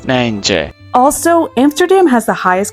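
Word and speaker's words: Nijntje: And in Dutch, her name is pronounced MJ.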